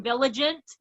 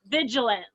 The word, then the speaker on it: vigilant: he kept mispronouncing it he kept saying village it and now I'm stuck and I really have to think about it that it really is not village it's vigilant so yeah that's probably